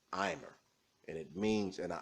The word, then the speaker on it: omer: In the Bible, it's called an imer. It might be spelled omer in your King James Bible, but it's actually properly pronounced imer.